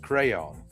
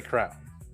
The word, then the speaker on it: crayon: I'm like, "Well, it's pronounced crayon, but I say crown."